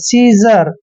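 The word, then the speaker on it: scissor: पहले अगर आई आता है तो एस का उच्चारण ज होता है सीजर सीजर पढ़ेंगे इसको सीजर होता है भी कैंची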